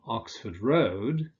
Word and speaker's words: Oxford Road: But with roads, you tend to stress the second element, Oxford Road, so you'll also say London Road.